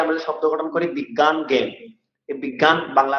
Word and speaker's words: জ্ঞান: বিজ্ঞান নিয়ম, যেমন ইয়াজ্ঞ, যজ্ঞকে কিভাবে উচ্চারণ করবেন, যজ্ঞকে ইয়াজ্ঞ। বুঝতে পেরেছেন? জ্ঞান বিজ্ঞান এভাবে বলতে হবে, জ্ঞান বিজ্ঞান বলা যাবে না।